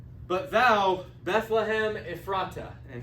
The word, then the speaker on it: Ephrata: it says but thou Bethlehem Ephrata and he adds an a right here so instead of ephrat it's spelled like if frata but thou Bethlehem though